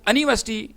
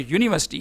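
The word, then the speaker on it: university: हाँ, अलबत्ता अगर आप यूनिफॉर्म को अनिफॉर्म प्रोनाउंस करें, यूनिवर्सिटी को अनिवर्सिटी प्रोनाउंस करें तो फिर ये वावल साउंड होगी, जबकि ये अनिफॉर्म और अनिवर्सिटी ये रॉन्ग प्रोनाउंसिएशन है। इसका करेक्ट प्रोनाउंसिएशन यूनिफॉर्म और यूनिवर्सिटी है।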